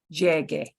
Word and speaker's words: llegue: So instead of saying llega, you'll use llegue, and that UE is just a spelling thing to make the G go to the hard G sound.